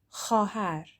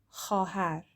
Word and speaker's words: خواهر: So it looks like خواهر, but the vav in the middle is silent. So we just say خواهر.